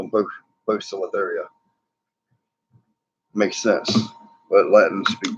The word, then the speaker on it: Poecilotheria: And although pokies have been called pokies forever, according to Tom Moran, they are now Poecilotheria.